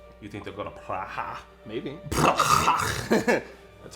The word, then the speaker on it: Praha: You think they'll go to Praha? Maybe. That's how you pronounce it.